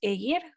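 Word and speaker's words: Ægir: Mi nombre es Egir. Para quienes hablan español, se pronuncia como ayer. Y para quienes hablan inglés, es I-ear.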